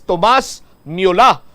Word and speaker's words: Thomas Müller: iya sini nga pangalan Thomas Müller. Pero ang pronunciation sa iya sini nga pangalan sa German sa aton sini makabombo is Thomas Müller, no?